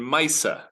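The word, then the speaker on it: מעשה: It is also the same word that gives us in Yiddish pronunciation, Misa. A Misa is a ma'aseh. So a Baba Misa literally means something that happened to grandma.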